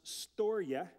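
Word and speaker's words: storge: another word it's spelled in English s-t-o-r-g-e it's pronounced Storia which is like a family love it's the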